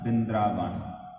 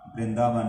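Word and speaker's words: ਬਿੰਦ੍ਰਾਵਨ: बिंद्रावन में रंग किया, बिंद्रावन, वृंदावन नहीं इहनूं कहना, इत्थे उच्चारण होएगा बिंद्रावन।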